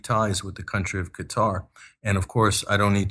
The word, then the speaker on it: Qatar: and Qatar Financial sources us commentators call Qatar they call it cut cutter which is the wrong pronunciation but unfortunately we have to suffer that when you watch us uh commentators like wolf Blitz are calling it cutter it's really Qatar yeah so so that